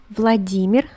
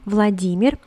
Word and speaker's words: Vladimir: next we have vladimir vladimir so the intonation the stress is on the first e vladimir so here what do